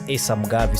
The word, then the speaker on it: Asam Gavi: He said his name is pronounced as Asam Gavi.